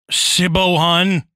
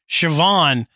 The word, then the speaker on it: Siobhan: yeah um and and been like oh hi siohan you know and and then you go oh no no this is pronounced sioban you're just like how yeah you know well